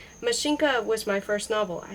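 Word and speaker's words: Машенька: The accent is on the first syllable, with the A pronounced as in ask, and in a palatialized in as in mignon.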